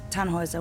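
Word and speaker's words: Tannhäuser: what's your name Tannhauser we'd pronounce it tan Wazza with an umlaut German roots yes my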